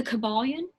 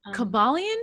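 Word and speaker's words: Kybalion: famous book um okay and then yeah the caballon by the three initiates that's a great book caballian how do you spell that yes k-y-b-a-l-i-o-n okay and and that's a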